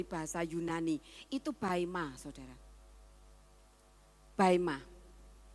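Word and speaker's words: βῆμα: Baima. Bacanya baima.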